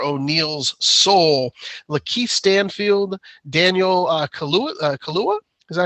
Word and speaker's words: Kaluuya: And for O'Neill's soul, Lakeith Stanfield, Daniel Kaluuya, is that how you say it?